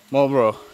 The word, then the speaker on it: Marlborough: we're gonna visit Fort, how do you say it? Marlborough? Yes! Marlborough. Like the cigarette.